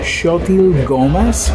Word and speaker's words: Xochitl Gomez: Her name is pronounced Xochitl Gomez.